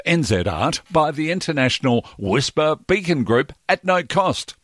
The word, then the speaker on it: WSPR: whisper transmitter in zl wspr pronounced whisper stands for weak signal propagation reporter the whisper transmitter custom